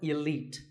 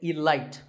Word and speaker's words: elite: 48 is the word elite actually there are two correct pronunciations elite and elite both are okay but just don't say alight there's no light in